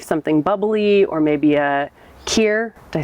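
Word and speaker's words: kir: for an aperitif, something bubbly, or maybe a Kier, did I say it right?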